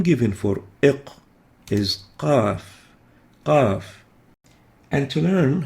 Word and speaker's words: قاف: Qaf is similar to kaf, ik, but is pronounced further back in the mouth.